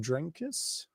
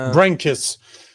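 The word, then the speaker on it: Brenkus: You know, man, I was just editing uh I'm just finishing up an edit for um John uh how do you say his last name? Drankus. No, Brankis.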